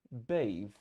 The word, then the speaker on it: bathe: И тогда поменяется произношение и становится bathe.